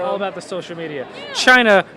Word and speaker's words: Chynna: about the social media China being spelled with c h y n n so I realized that